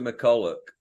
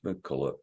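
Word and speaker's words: McCullough: Peter McCulloch, that people can look him up. I might be saying it, I pronounce it McCulloch, but it might be McCulloch. O-U-G-H.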